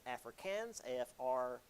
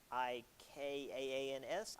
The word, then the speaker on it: Afrikaans: the regional African dialects, so it's known as Afrikaans, Afrikaans, I believe is how it's pronounced.